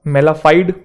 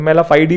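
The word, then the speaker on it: mala fide: मेलाफाइड, कुछ लोग इसे फाइडी भी बोलते हैं, कुछ फर्क नहीं पड़ता, वो प्रोनाउंसिएशन चलता है ऊपर नीचे, यूके यूएस वाला। तो मेलाफाइडी बोल लो, मेलाफाइड बोल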